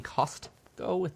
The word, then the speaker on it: Costco: Do you mean Costco with the T that nobody pronounces?